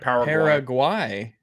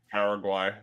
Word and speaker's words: Paraguay: pronounce uh it's why it is gwy okay paraguay yeah paraguay there we go oh